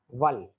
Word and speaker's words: veulent: This is pronounced as a ver, just ver, voulons, voulez, and this is val.